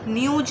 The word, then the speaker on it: न्यूज़: तक लिख दो, ABP न्यूज़ लिख दो, न्यूज़ की स्पेलिंग, ठीक है, न्यूज नहीं होता है, न्यूज़, ठीक है।